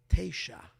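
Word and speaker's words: תשע: In Hebrew, how do you say 9? Teisha. Teisha is 9.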